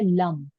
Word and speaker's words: लम: मूलाधार चक्र का बीज मंत्र है लम, ल ऊपर अन की बिंदी, लम, लम, उच्चारण होगा तो लम, ऐसे बोला जाता है।